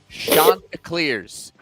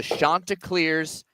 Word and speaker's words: Chanticleers: The Coastal Carolina, listen to me say it, folks, Chanticleers. It is the Chanticleers, not Chanticleers, not Chanticleers.